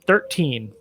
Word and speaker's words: XIII: So we there's a game coming out November 10th that is a remake of the game 13. And that's spelled XIII, like the Roman numerals.